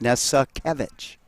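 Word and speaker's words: Nesakevich: very patient he'd go no it's Nessa kevich and that pitch low bounces in because it's not really spelled like it sounds not at all well whatever you want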